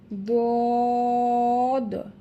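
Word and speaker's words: ض: পারবেন, আবার উপরের বাম পাশের মারিদ দাঁত থেকে উচ্চারণ করতে হবেন। বিষয়টা হচ্ছে জিহবা গোড়ার কিনারা, জিহবার যে গোড়ার আছে, গোড়ার কিনারা দদ, দদ।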